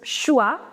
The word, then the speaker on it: choix: OI is oua, which I told you over here. It becomes choix, entre.